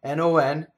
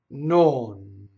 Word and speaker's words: non: I go non vuole. Notice the motion. I had to go up, I had to go down, I had to go back up again. So what else happens? When I release the tongue to bring it back out, I have to keep a vowel going for legato, so then there's a shadow vowel.